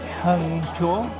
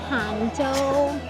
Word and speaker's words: Hangzhou: Well, that was a nice day spent in Hangzhou. Hangzhou. Wow. At the end of the day, you still got the name wrong.